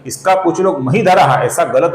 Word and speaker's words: महीधरः: बनता है और आगे महीधरः नाम है। ये ही दीर्घ है, इसका कुछ लोग महीधरः ऐसा गलत उच्चारण करते हैं, यह हमें नहीं करना है।